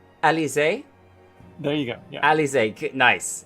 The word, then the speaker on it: Elysia: Oh, remember, you found out her correct pronunciation. Elysia?